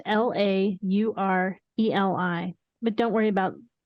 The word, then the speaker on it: Laureli: And that's Loreli. It's actually not. It's Laureli.